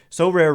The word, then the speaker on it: Sorare: So Rare recently partnered with MLB All-Stars Juan Soto and Julio Rodriguez to serve as brand ambassadors.